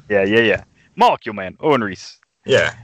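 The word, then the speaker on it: Owen Reece: he does not even paying attention to the Owen Reid bystander just for the +1 ability set his name wrong like five times sewn Reese yeah yeah yeah molecule man Owen Reese yeah it's it's Reed Richards and Owen read/write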